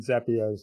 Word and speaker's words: Zapier: around you yeah and zapier's yeah couldn't live without that yeah zapier makes you happier is actually the right pronunciation all right um what's